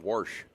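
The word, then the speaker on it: Warsh: a guy named Kevin Worsh. No, spell it. It's W. It's exactly how people some people from the St. Louis area say they worshed their cars.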